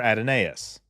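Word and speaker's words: Adonais: to the original series episode who Mourns for adonus and yes that is how it's PR that's how it's pronounced got a minute on the clock and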